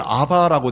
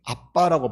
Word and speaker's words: 아빠: 이전 성경은 아바라고 돼 있었습니다. 아바보다는 아빠라고 발음하는게 원어를 가장 가깝게 발음하는 겁니다.이 아빠라는 말은 아라모를 아빠라고 부릅니다.